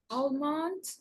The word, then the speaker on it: almond: Next, you're going to pronounce this short list, this list of five words where we don't pronounce the L sound. Sai, go ahead. Um, almond balm, calm, cold, could have and have.